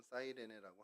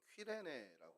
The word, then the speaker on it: 구레네: 이 구레네라는 단어는 사이레네, 오늘날의 이제 발음으로는 사이레네라고 하는데 헬라어로는 퀴레네라고 이제 발음합니다.